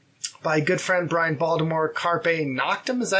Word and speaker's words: Carpe Noctem: Also, so we got a CD by good friend Brian Baltimore, Carpe Noctem, is that how you say it?